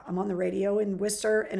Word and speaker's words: Worcester: So afterwards, I went up to the guy at the aquarium because he mispronounced Worcester. He was calling it Worcester in the class that they gave at the aquarium.